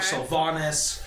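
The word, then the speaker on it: Silvanus: You kind of saw majorly worshipped gods like, Saluna and Lathander, or Sylvanus, or Sylvanus, however you pronounce it. It's technically Sylvanas.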